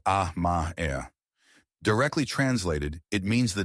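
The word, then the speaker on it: 甘え: It is called amae, pronounced ah-ma-e.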